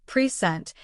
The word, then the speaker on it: present: For example, take the word present. When the stress is on the first syllable pent, it means a gift. But when the stress is on the second syllable present, it means to give something formally.